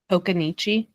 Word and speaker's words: Occoneechee: Okanichi.